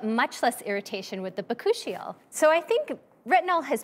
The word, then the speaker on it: bakuchiol: How do you pronounce it again? Bakuchiol.